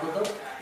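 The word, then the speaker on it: كتب: Kalau ada alifnya dibaca? Kitab. Nggak ada alifnya dibaca? Kutub.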